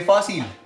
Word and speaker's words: fácil: ¿Cuántas sílabas tiene fácil? Fa. Sil. ¿Cierto? 2 sílabas. Muy bien. ¿Cuál es la sílaba tónica de fácil? Ustedes dicen fácil o fácil. Fácil, ¿verdad? Muy bien, listo.